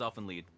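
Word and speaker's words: Elfen Lied: it's like a German it's like a German pronunciation you don't want say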